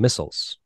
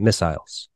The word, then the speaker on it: missile: So we'll move on to the song Missiles. Yeah. Or as he pronounces it, Missiles. Missiles, yeah. I mean, yeah, I think that's the English pronunciation of that one. Right, that's what Missile. Yeah, we'd say missile.